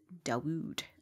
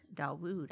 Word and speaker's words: Dawud: issues with pronunciation but brittany zimmerman within the wolf pack has said that it's supposed to be said dawud darwood i said darwin like